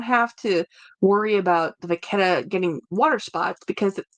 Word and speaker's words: Vachetta: Thank you, Vachetta. Yeah, Vachetta. I have to remember that. Pronounce it with a K sound.